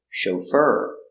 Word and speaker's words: chauffeur: O show fur fur the accent is on the second syllable chauffeur he is a chauffeur is